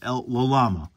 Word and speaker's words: L Llama: is L llama and you do pronounce both L's in this just so you know that's a it's actually factual uh he he does pronounce both of them El L Lama so this is what